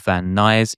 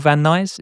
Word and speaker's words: Van Nuys: Los Angeles suburb of Van Nuys. Is it called Van Nuys? Van Nuys? I think that's how you say it, yeah.